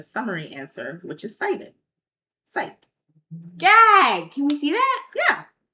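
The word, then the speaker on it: scite: Um, there's also AIS like one called site, which is spelled S C I T E, which allows for research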